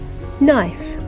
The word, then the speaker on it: knife: The spelling rule is the N sound spelt with KN and GN at the beginning of words.